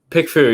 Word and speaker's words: PickFu: What's the right pronunciation of that? PickFu, yeah, that's perfect.